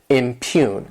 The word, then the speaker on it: impugn: This word has 2 syllables, and the stress is on that second syllable, impugn.